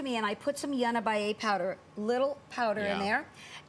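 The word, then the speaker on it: Yunnan Baiyao: Yunin Bai Yao? It's Yanabaye powder.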